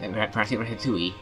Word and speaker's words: Ratatouille: Ratatouille is spelled Ratatouille, and it means pronounced Ratatouille.